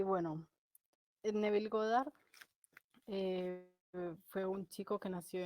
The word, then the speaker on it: Goddard: he pronunciado ghost bar y pronunció bien su nombre sí godard godard y pues cuando lo